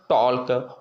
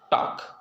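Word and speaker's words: talk: टॉल्क, वाल्क, चाल्क, ठीक ना, ये सब ऐसे नहीं। टॉक, वाक, चाक, याक, फॉक, ये हमारा के पहले आने वाले अक्षर को हम साइलेंट पढ़ेंगे।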